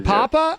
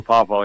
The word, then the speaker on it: Poffo: Do you care about Lenny Papa Lanny Papa? I believe it's pronounced Poffo. Do you care about him or just Macho Man? I do care about Lanny Poffo. I do. Oh, Poffo, yeah.